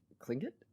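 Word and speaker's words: Tlingit: did they pronounce it cling it so the t is pronounced like a k that's cool huh this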